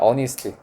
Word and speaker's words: honesty: honesty에다가 어휘 포인트 H 묵음이라서 honesty라고 있습니다. 님이 왜 이렇게 피곤해 보이냐? 자 honesty 죽을 것 같지?